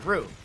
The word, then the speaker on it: roux: Oh, it's roux. Roux. Roux is how you pronounce it.